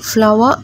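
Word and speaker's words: flower: അപ്പോൾ ഈ വാക്കിലും ഒയ്ക്ക് ആ എന്ന ഉച്ചാരണമാണ് കൊടുക്കേണ്ടത്. ഫ്ലവർ എന്നാണ് ഇത് വായിക്കേണ്ടത്.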